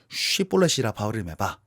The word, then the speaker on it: 시볼렛: 야 시볼렛이라 발음해봐. 시볼렛이라 발음해봐. 그러니까 이 발음이 안 되는 사람은 시볼렛 이렇게 얘기한단 말이에요. 그러니까 에브라임 사람들은 시볼렛이 편하고 이 길르앗 사람들은 시볼렛이라고 발음하는 거예요.